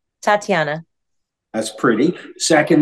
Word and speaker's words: Tatiana: she has a pretty name and I can't pronounce things so help me here say your first name Tatiana that's pretty second name say them both